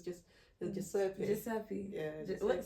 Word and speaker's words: Giuseppe: Giuseppe? No, Giuseppe. What? Giuseppe. So it's Joseph. It's Joseph. So it's Joseph. What? Yeah, that's the Italian version of Joseph. So it's just Giuseppe. Giuseppe.